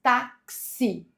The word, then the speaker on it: táxi: A letra X nesse contexto apresenta dois sons. O som de K e S. Taxi.